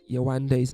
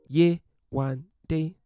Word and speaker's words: Yewande: in the island with Yewande, and for whatever reason, she just couldn't seem to get Yewande's name right. Yewande, or if you're going to say it the British way, Yewande.